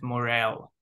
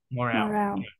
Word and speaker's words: morale: another word and and the pronunciation is morale morale uh there is another